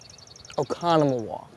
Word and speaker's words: Oconomowoc: He's here mostly to help me pronounce. Oconomowoc.